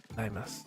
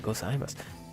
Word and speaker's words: gozaimasu: Like I so much wanted to say gozaimasu, but like I knew that it wasn't pronounced that way. So like reading it and then trying to pronounce it, gozaimasu.